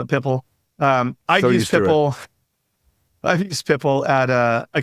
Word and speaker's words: PIPL: And then for anybody listening, People, it's spelled PIPL. Most of us OGs call it Pipple.